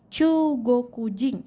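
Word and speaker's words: 中国人: Jepang adalah chuugokujin chuugokujin disini punya ada dua dibaca panjang chuugokujin artinya orang Tiongkok kemudian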